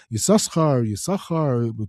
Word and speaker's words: Yissachar: Yissachar, how do you say it? Yissachar, if you pronounce both sins, all these different things, a lot of different materials about it.